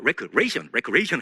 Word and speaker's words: recreation: 보통 우리가 recreation 하는데 사실 recreation입니다. 발음 주의해 주시고요.